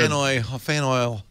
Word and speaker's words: Faneuil: Fan oil. How do you pronounce that? Faneuil Hall? Yep. Fan oil.